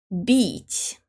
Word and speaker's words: бить: Быть and бить. In the second word, бить, B is soft. Б. Быть, бить.